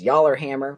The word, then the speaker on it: yallerhammer: It's known to a lot of locals as yallerhammer, which apparently is just based on the pronunciation of yellow, back then, which is kind of cool.